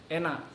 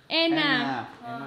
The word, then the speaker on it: enak: Enak. Enak.